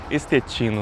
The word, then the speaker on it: Estetino: Mas a gente vai então de pronúncia em português estetino.